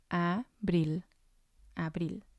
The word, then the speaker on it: abril: spanish we have abril abril it means april and again it has two syllables and the stress is going to be on the last one which would be number one a brill and then we have